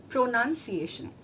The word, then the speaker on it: pronunciation: Okay, it is first it comes PRO, then it comes NUN, then SIAY, SHUN. This is the syllable breakup I'm giving you, guys. This is not the spelling I'm telling you. This is the syllable breakup. The actual way in which this word would sound is pronunciation.